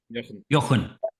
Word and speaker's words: Jochen: Did you say, how do you pronounce your name? Jochen.